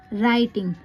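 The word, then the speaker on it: writing: राइटिंग, जब भी WR होगा तो W साइलेंट रहता है।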